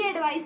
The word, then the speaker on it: advice: अगर आप इसे भी एडवाइस बोलेंगे, इसे भी एडवाइस बोलेंगे तो आपको कभी भी डिफरेंस क्लियर नहीं होगा. This is एडवाइस, this is एडवाइज.